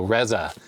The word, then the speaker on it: Reza: It says Reza, pronounced like Pez with an A, Peza, so Reza.